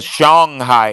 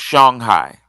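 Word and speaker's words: Songhai: did you pronounce it I was taught it was Shanghai sh Shanghai Molly um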